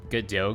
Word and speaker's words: Godot: It's pronounced Godot, by the way. See, there's more and more people who keep calling it Godot. It's very strange. That's not how it's pronounced. Godot is a French name.